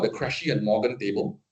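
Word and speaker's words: Krejcie: Um there is a table called the Crashy and Morgan table, right? Crashy is spelled K R E J C I E, right?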